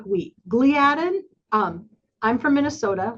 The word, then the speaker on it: gliadin: Gliadin, I'm from Minnesota. We pronounce it gliadin. Some people call it gliadin.